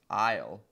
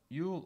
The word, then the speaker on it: Eull: joined by superfan julie ewell technically pronounced isle but yule or isle seems to be acceptable even within her own family anyway minnesota's own julie